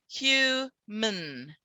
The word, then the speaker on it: human: we'll look at it human the there is no vowel sound here between the m and the n hu min and we go straight